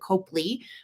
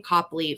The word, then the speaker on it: Copley: David and he is a piece of Royal Copley some pronounce it Copley but it's spelled cooperly and I look at the pronunciation one time and it does say Copley phonetically speaking however how you choose to pronounce